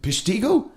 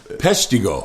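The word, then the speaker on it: Peshtigo: p how do you say the time you pisho I messed it up didn't I oh it's pretty close pretty close you know once Tom T Hall called it pido how do you say it peso peso it it's home of the world's worst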